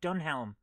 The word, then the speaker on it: Dunelm: lady game Hammer of dunelm or however you pronounce it yes DM we don't pronounce the h in in DM yes